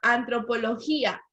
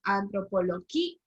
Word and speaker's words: antropología: La palabra antropología, ¿qué palabra era? Grave. Antropología es grave porque recordemos que allí hay un hiato, entonces IA se separa, antropología.